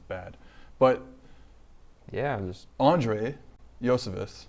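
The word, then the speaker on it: Iosivas: thoughts on uh Andre ioscevis the prince Josephus Josephus yeah that's how you say it uh because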